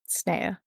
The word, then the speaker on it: Sneha: Is that how you'd say it? Sneha? Sneha. That's what Google pronunciation said.